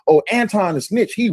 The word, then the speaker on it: Anton: Y'all do know his name pronounced Anton, not Antoine, right?